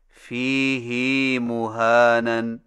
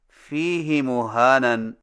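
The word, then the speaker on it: فِيهِ مُهَانًا: Number 9، فیہ مہانن میں فیہ کی ہا کو کچھ کھینچ کر پڑھیں، یعنی اس طرح فیہ مہانن۔ ہماری قراءت روایت حفص میں اسے فیہ ہدن کی طرح فیہ مہانن پڑھنا صحیح نہیں۔ صحیح تلفظ کے ساتھ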